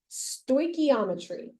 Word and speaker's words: stoichiometry: called this is how you say it Ivan stochiometry all right so stochiometry is what this unit is called or sto